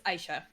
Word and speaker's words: Aisha: How do you pronounce it? It's Aysha. Aisha.